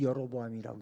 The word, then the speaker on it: 여로보암: 10개 지파의 열로보암인데 열로보암이라고 생각하고 읽기는 여로보암이라고 읽는다. 그러면 됩니다.